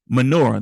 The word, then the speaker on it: menorah: When it came time to relight the menorah, menorah.